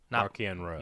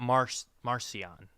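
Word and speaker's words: Marchion Ro: Markion Row. Not Marcion.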